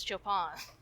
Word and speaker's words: Chopin: I mean, I call him Chopin all the time, but it is Chopin.